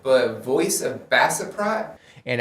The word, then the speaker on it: Baceprot: right, but Voice of Bassaprot and I did learn from the comments that the the band's name is Voice of Bachap, not Bassiprot, but it was requested that I check them out.